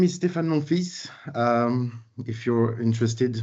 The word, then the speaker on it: Monfils: My name is Stéphane Monfils. If you're interested, Monfils is French for my son, and the L is silent.